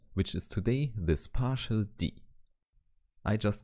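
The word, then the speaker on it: ∂: version of a lowercase D indeed some people just call this symbol Dil but this can be confused with the number operator therefore if you pronounce this letter here you can simply say d and now you might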